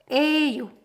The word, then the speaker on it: 예요: And one thing about 예요 is that it's often pronounced 에요, but it's spelled 예요. So when you're pronouncing it, you can read it as 에요, and that should be fine.